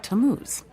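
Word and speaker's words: Tammuz: what t a m m u z it's pronounced tamuz maybe if you show him your evidence he'll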